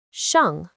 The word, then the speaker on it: 上: Its pronunciation is shàng.